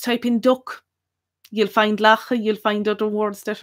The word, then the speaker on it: lacha: And the most common word for duck is lacha. And that's spelled L-A-C-H-A, lacha.